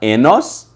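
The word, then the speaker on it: οἶνος: vem da palavra Enos Enos se escreve em grego oinos mas se se fala Enos enólogo vem da palavra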